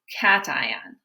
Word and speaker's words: cation: a positive ion is cation so a cation everybody say cation cation cation it sounds like the word cat it looks like patient but it's cation so the cation is